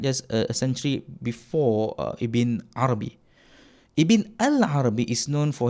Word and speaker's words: Ibn Arabi: It's Ibn Arabi betul, without the al.